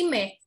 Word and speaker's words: mais: is tapi cuma 12.00 bacanya jadi Meh Meh tapi yang sekarang ini karena titiknya dua bacanya terjadii maish artinya jamur jadi jangan